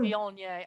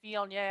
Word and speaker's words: Viognier: Viognier. I say it Viognier. I don't know. People say Vignette, Viognier. It depends on how many syllables you want to put on the word.